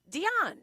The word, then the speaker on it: Dionne: the props to say Dionne. Yeah. And so I always told my mom there should be an accent on the end of it. So everybody knows Dionne and not Dion, like Deion Sanders.